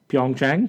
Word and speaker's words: Pyeongchang: Pyeongchang.